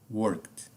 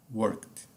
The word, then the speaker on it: worked: To work, work, works, working, worked, worked. Trabalhar, funcionar. Tá? Então aqui, passado e particípio. Perceba como eu pronunciei worked, worked, tá? O fonema da letra E passou ao largo, ou seja, foi ignorado, ok?